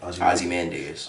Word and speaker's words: Ozymandias: Ozymandias.